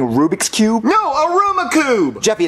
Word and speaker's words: Rubik's Cube: daddy that's not a Ruma Cube that's not what I wanted yes it is Jeffy that's a Rubik's Cube you're just saying it wrong I never said I